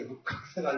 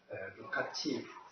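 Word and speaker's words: Lukács: 발음대로 읽으면 이게 루카스가 되거든요. 루카스. 루카치. C-L-U-C-H C-S 이렇게 되기 때문에 우리 어릴 때 그냥 루카스 이렇게 읽기도 했었습니다.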